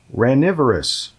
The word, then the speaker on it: ranivorous: The third word is starts with an R, and it is ranivorous. Ranivorous. Ranivorous. That is spelled R-A-N.